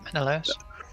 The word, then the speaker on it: Menelaus: we got together, but I will say it's Menelaus. Is that how you say it? Yep, Menelaus.